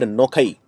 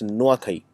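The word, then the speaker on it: Nuakhai: ask which state celebrates an agricultural festival called noai so uh noai um is a festival uh in fact it's pronounced wrong it's noaki it is like this n u a Ki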